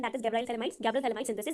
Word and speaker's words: phthalimide: Okay, Gabriel थैलामाइड, इसमें P silent होता है. ओके, पीएच साइलेंट होता है. हमने इसे क्या बोलना है, गैब्रियल थैलामाइड रिएक्शन.